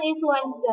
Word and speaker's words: influenza: Tulisannya kan influenza, tapi bacanya influenza.